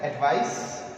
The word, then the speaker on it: advice: एक हमारे पास होता है जिसको हम कहते हैं एडवाइस, ये we pronounce it एज एडवाइस and this is एडवाइज्ड, there is sound and sound here.